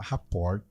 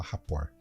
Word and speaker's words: rapport: Você fala rapport, se escreve rapport, mas se fala rapport.